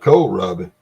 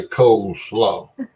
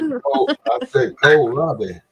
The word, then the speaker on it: kohlrabi: I didn't say coleslaw. I like it soupy and sweet. I said kohlrabi. Oh. I'm gonna spell it for you, and you can look it up and see what it looks like. Okay. It's KOHLRABI, kohlrabi. That sounds like Japanesey. No, it's German.